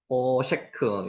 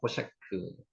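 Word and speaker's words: חושך: 호셰크, 이 단어 중요한 단어입니다. 호셰크, 흑암입니다. 흑암. 우리 애굽의 흑암장 생각하시면 됩니다. 호셰크, 호셰크, 흑암.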